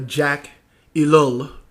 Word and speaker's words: Jacques Ellul: pause that phone call, by Jacques Ellul, the French writer, or Jacques Ellul, as I guess they would pronounce it in English, called Propaganda.